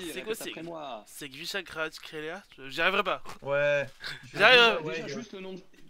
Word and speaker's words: Kvaratskhelia: Dvijak Kvaratskhelia. Pourquoi il y a un problème? Kvaratskhelia.